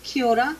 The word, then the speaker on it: kia ora: The word is kia ora, but you'll hear it pronounced many different ways around New Zealand, so it's awesome.